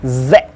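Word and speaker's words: з: Next one is letter Z. Z. Looks like a rounded 3. Z. Z. Z. It's more obnoxious sounding than English Z. Kind of like a mosquito going in your ear.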